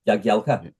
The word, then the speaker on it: Jagielka: Jagielka.